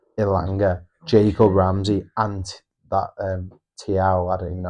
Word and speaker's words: Thiaw: in, Voldemade, Visser, Ilanga, Jacob Ramsey, and that Tiao, I don't even know how you pronounce it, centre back. Yeah, Thiaw.